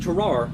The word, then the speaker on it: Tarrare: Now, his name is pronounced differently in French, but I am not French, so it will be pronounced Tarrare in American.